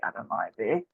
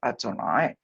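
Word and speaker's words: אֲדֹנָי: to say Adonai even though it doesn't say Adonai um it's udav God's name but we pronounce it Adonai um El eloh okay that's eloh okay again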